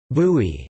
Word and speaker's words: buy: Popular fresh juices are made from bissap, ginger, bai, pronounced bui, which is the fruit of the baobab tree,